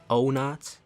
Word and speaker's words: Onat: Which, by the way, speaking of my name, some people pronounce it Onat, some people pronounce it Onat. I mean, I'd say the accurate pronunciation would be like Onat, but you can call me Onat, Onat, Captain Nunchucks, McJigglyfuck, it doesn't matter.